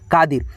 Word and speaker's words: कादिर: तो मेरे नाम में दोस्तों आई का प्रयोग यानी दोस्तों छोटी ई की मात्रा के लिए नहीं, बड़ी ई की मात्रा के लिए होता है। खींच करके उच्चारण इसका नहीं होता है, स्लोली होता है, इसलिए आई लिखते हैं आर से र, कादिर।